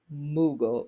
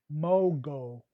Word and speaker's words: Mogul: And if you need help, you got a coach right here, Jesse Cole, Kingdom Moogle. Did I say it right? Mogul. Mogul. Mogul.